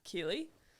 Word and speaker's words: Keighley: pronouncing my last time I don't think many people know how to pronounce my last name so maybe that's a good place to start Keeley it's like wheelie but with a k um I I am